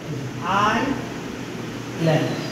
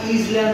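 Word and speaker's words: island: উচ্চারণ করতে পারি আইল্যান্ডে আই ল্যান্ড আইল্যান্ড এটা আমরা ইজল্যান্ড বলতে পারি কিন্তু না এটার উচ্চারণ হবে আইল্যান্ড এই আইটা প্রথম এবার চলে যাব ওতে।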